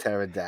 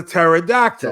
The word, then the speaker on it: pterodactyl: how you spell it P T always pterodactyl because it's a pterodactyl pterodactyl yes oh I